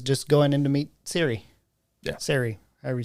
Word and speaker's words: Serie: going in to meet Ciri. Yeah. Ciri, however you say her name. Sine. No, it's not. It has an R. Brother. Look. Right there. Serie. What is it? Serie.